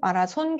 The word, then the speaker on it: 마라손: 공식 이름은 만경대상 국제 마라손 북한 발음으로 마라손 경기 대회인데 14년부터 외국인한테